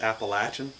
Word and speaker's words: Appalachian: It is pronounced Appalachian.